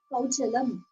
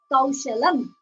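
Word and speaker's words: कौशलम्: So the pronunciation, he said kauchalam instead of kaushalam. He said kauchalam. He instead kauchalam of kaushalam.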